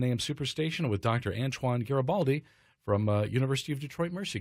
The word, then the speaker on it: Garibaldi: And Hard G is the last name, so just Garibaldi, as my wife likes to say, it's Gary with an I and Baldi with an I.